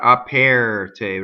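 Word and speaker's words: aperte: Apɛrte doesn't rhyme with chair. It's not apɛrte, right? Apɛrte. Tutto.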